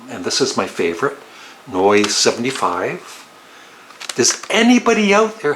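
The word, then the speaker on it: Neu!: doing it wrong but this is noi not new it's noi a German band this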